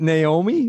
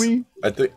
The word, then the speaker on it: Noomi: Just, no, is it Naomi? What is it? I thought it was. No, I think it's Noomi?